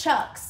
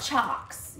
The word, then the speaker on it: chocks: say before chuck no you're still saying it wrong it's chucks not chalks you keep saying chalks anyways the wheels chucks like chuck like i can't say it like the nickname for charlie anyways we didn't put